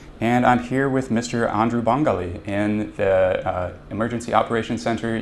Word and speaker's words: Andrew Bangalie: Can we start out, would you mind just saying my name is, and then pronouncing your full name for me? My name is Andrew Bangalie.